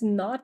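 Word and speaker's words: naught: be familiar with this the zero here is actually read as not that's spelled as n u ght so it's not a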